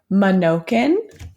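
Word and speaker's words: Manokin: Okay, how to pronounce it is Minokan and Wicomico. Oh, good. Minokan and Wicomico.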